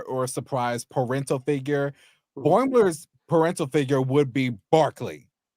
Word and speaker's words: Boimler: And But then when Riker came and saw Boimler, he called him Boomler.